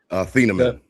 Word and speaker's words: Azeez Ojulari: Azeez Ojulari.